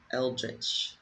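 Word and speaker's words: eldritch: Eldrich. That's the US pronunciation.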